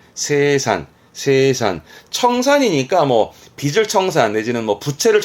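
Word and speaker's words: 清算: 발음은 세산.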